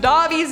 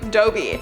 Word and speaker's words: Dobby: commented wasn't cursed until lindsay pronounced dobby's name dobie little backstory i know it's dobby but i was told that it was dobie so when i was